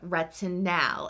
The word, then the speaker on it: retinal: first this is using retin now and I am pronouncing the a in this because this is actually different than your traditional retinol spelled with an O these are not two